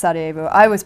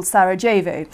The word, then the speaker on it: Sarajevo: Of course, then I didn't know it was pronounced Sarajevo. We pronounced it at school Sarajevo, which I now know is completely wrong.